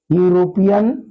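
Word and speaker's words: European: यूरोपियन friend. अब देखिए यहां पे जो यूरोपियन वर्ड दिया हुआ है इसका प्रोनाउंसिएशन करने पर या इसका प्रथम ध्वनि जो है हिंदी वर्णमाला का व्यंजन है।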